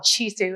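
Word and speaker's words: CHISDU: of them is called chisu it's a project Community Health Information Systems and data use the D is silent um it's working in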